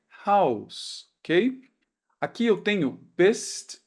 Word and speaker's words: Haus: Quando eu tenho agora o S no final de uma palavra, a gente vai pronunciar como um S mesmo. Ou então quando ele aparece antes de uma consoante. Então a gente pronuncia com som mesmo de S normal. Por exemplo, a palavra casa em alemão é Haus, ok?